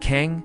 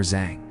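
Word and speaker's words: 藏: The Chinese character for hidden can be pronounced kang or zang.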